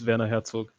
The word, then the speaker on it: Werner Herzog: Werner Herzog. Yeah, in German it's Werner Herzog.